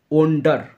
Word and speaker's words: wander: এর মানে প্রথমটা WANDER, এর উচ্চারণটা ওন্ডার, আর দ্বিতীয়টা উচ্চারণ আন্ডার, আন্ডার।